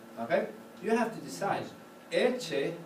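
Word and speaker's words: Ecce: Eche has an accent on the first syllable, so it's not bad at all.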